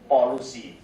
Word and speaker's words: polusi: So like pollution will be pronounced as polusi.